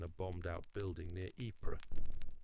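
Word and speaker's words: Ypres: It started when a unit found an old printing press in a bombed out building near IPA, which everyone pronounces wipers because it's easier.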